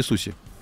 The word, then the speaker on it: суши: А, кстати, как правильно, суши или суси? Суси? А тогда Митсубиси или Митсубиши? Митсубиси. Значит, суси, Митсубиси.